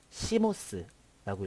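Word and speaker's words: CMOS: 자, 이것을 바이오스라고 읽고요. 그 다음에 이것을 시모스라고 읽고 이것을 포스트라고 읽습니다.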